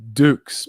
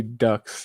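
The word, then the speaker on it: Dux: And I think it's pronounced Dukes, but I like to say Ducks. That's a mistake I made, but a lot of people loved it.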